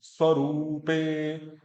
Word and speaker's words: स्वरूपे: तदा द्रष्टु स्वरूपे, स्वरूपे ऊ बड़ा है वहां पे, स्वरूपे, हाँ वस्थानम, वो बीच